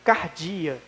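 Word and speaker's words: καρδία: coração irmãos no original essa palavra ela significa Cardia a pronúncia dela e ela significa a alma ou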